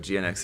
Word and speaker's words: GN-X: bar there we go uh let's see it's pronounced Jinx in the anime but GNX is cool too yeah I I've always said